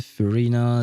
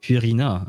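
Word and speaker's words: Furina: Uh, we have Charlotte, Shros, Chlorand, Emily, Esco, Fina, Fina, Lin. I should pronounce it Fiorina actually since it is supposed to be a French name.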